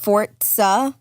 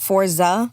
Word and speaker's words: Forza: no sorry I was is it really pronounced fortza not Forza yeah it's fortza oh so there's an